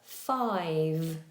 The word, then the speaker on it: five: that is the number five. Five. The difficulty most students have is that they don't do a voiced V sound. So if if the V v doesn't have voice, then it becomes an F.